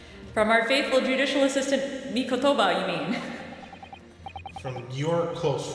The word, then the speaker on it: Mikotoba: Mikotoba.